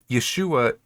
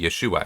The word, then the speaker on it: Yeshua: It would have been if you pronounce it that way, it would be Yeshua.